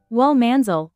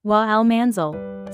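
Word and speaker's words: والمنزل: It's pronounced wal manzil, not wa al-manzil.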